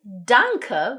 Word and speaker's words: danke: general point for German; they are pronounced. They're not silent like we frequently have in English, but the sound they make is just this really standard, ugly 'uh' sound.